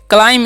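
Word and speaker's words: climb: बोल सकते हैं ओके क्लाइम इसे पढ़ते हैं क्लाइम पढ़ते हैं क्या पढ़ते हैं जी क्लाइम यहां पर बी जो है साइलेंट होता है याद रखना है ठीक है तो क्लाइम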